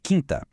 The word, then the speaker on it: quinta: A palavra é quinta. E então, é ou não é? Sim. Diferente de Aquário em quinta, o U é mudo.